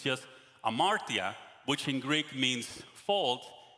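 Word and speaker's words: ἁμαρτία: the origin and now my greek professor said that you don't pronounce the h it's just amartya which in greek means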